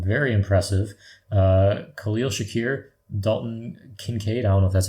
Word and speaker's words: Kincaid: Khalil Shakir, Dalton Kincaid. I don't know if that's how you say his name. I always forget. It is Kincaid.